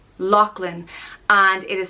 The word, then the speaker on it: Lachlan: land of the lakes it's pronounced loch lin lachlan and it is spelled